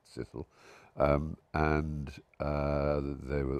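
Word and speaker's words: Cecil: The Sisilles is their surname spelled Ceil, but naturally being British pronounced Sicille.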